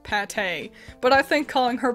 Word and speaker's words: Pate: got a new villager paint or I I suppose it's supposed to be pronounced Pate but I think calling